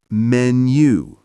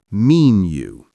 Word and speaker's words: menu: For example, menu is pronounced menu, not mean you.